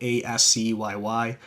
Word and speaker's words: ASCII: It was developed by, and I don't know if you pronounce this correctly, ASCII Entertainment, so ASCYY, like the ASCII art and things like that.